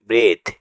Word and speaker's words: breathe: BREATHE ব্রিথ মানে শ্বাস নেওয়া বা শ্বাস নিন। এখানে এইচ এর পর ই লেটারটি সাইলেন্ট থাকবে।